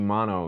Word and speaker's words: Maono: to look at another offering from the company mono yes I'm pronouncing that correctly according my contact over there